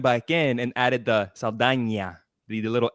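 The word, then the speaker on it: Saldaña: Zoe Saldana, for example. That's how you pronounce her name, Saldana.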